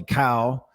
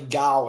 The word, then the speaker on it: Kao: It's pronounced with a G sound, so like G-A. You give like, like cow. Dude, I have a good friend of mine with the G. It is Gao.